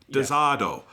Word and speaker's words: D-SEERD: But the way it's spelled in Japanese and katakana, it's basically the word dessert, but with a do at the end instead of a to. It's just desado.